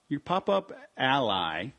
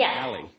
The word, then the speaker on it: Ally: I just realized your pop-up ally. Is it pop-up ally or pop-up alley? Yeah, you can pronounce it either way, but we kind of